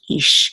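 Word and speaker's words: איש: call and this is an Aleph with a headache and the year together will say E and then this is a shin so it'll be ich ich ich means man yah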